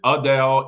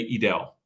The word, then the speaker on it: Edel: of people ask us well how do you pronounce it is it Adele is it edel I've heard all sorts of pronunciations but um we always just say edel foreign when I introduce you no I mean